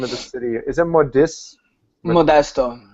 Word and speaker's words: Modesto: For the life of me, I can't pronounce the name of the city. Is it Modesto? Modesto.